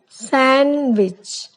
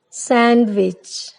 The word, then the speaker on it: sandwich: Next one, sandwich. It is not sandwich, it is sandwich.